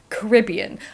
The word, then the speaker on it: Caribbean: blame the Pirates of the Caribbean or technically Caribbean I met someone from the Caribbean recently uh on a PhD course and she says Caribbean so I'm going to say Caribbean throughout this but I've always